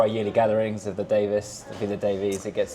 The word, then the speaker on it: Davies: So, yeah, pronounced Davis. But I usually say Davies just cuz otherwise people spell it the wrong way.